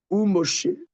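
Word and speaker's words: ומשה: Alors, le ou c'est le préfixe va. Alors, le va après avant beaucoup de lettres, ça se prononce ve mais avant le même ça se prononce ou ou moché et moché.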